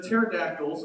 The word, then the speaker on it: pterodactyl: the big long neck the pterodactyls or as we've lovingly ignored the uh silent p calling it pood that